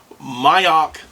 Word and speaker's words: Moyock: mail I'm sorry but I believe it's pronounced mayak North Carolina um he